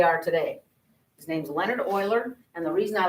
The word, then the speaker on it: Euler: his name was leonard euler and his name is spelled e-u-l-e-r and it is not euler you will definitely expose your ignorance if you pronounce his name mueller and he's a swiss guy and it's pronounced